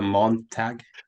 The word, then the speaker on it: Montag: does it start with a Montag? Does it Could start be. with a It Montag? rhymes with, right. It rhymes with Dawn Tag.